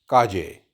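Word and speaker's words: calle: में कहा जाता है काजे काजे इट is spell like C ए एल एल ई बट I have told you before कि जहां पर डबल एल ओ होगा उसकी जो प्रोनाउंसिएशन है वह जे की तरह हो जाएगी। सो इट्स काजे अ स्ट्रीट उनाकाजे उनाकाजे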